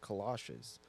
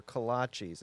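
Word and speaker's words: kolache: Well, at first he just he really thought they were called kalashes. That's true. And then he just kept saying it and I was like, no, they're kalachis.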